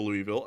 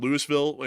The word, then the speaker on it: Louisville: I call it Lewisville. And when I say Louisville and Nashville, just to let y'all know. Yeah, that's not the way it's pronounced, but it just sounds better saying it that way when you say Lewisville and Nashville instead of Louisville and Nashville.